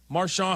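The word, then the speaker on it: Marchand: the way they've done this this season, particularly with Brad March, Marshon, however you want to say his name. I like to say Maron because he's Canadian even though he's not a French Canadian.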